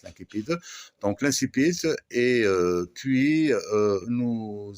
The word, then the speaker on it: incipit: Alors, ça, c'est où l'incipit, hein, la latine on prononce l'incipit, donc l'incipit, et puis nous allons, si vous voulez, la situation initiale, et on passe maintenant aux péripéties.